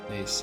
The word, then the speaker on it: Nice: Nice, yeah.